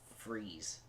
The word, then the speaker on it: Fries: And they go in the Ice Cave, and they see Dr. Victor Freeze. It's spelled like fries, but...